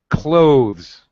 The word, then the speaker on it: clothes: Clothes, one syllable. Do not say clothes. Okay, I don't know how to pronounce that. Clothes. Can you repeat? Yes, I can. There are two acceptable pronunciations. You can pronounce the TH sound. Clothes. Oh. My tongue is out for the Z and then Z sound.